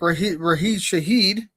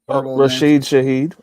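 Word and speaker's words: Rashid Shaheed: Um but then you know, you got you got guys like Rah Rahe Shahed, right? Did I say his name right? I'm Rasheed Shahed.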